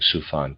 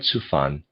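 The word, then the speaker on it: Suphan: I don't know if I'm pronouncing Suffan correctly. It's S-U-P-H-A-N, but I am pronouncing it Suffan.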